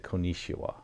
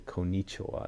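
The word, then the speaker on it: こんにちは: After trying to I can clearly I always thought they said konisha. Konichua. But after trying to pronounce it a couple times, I can clearly hear the Konichua now.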